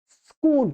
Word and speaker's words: स्कूल: स्कूल स्कूल स्कूल तो सही उच्चारण इसका यही है। इसमें ना तो कोई इ जोड़ना है आपको पहले ना अ जोड़ना है। स माने स्कूल स में कोई आपको स्वर भी नहीं जोड़ देना।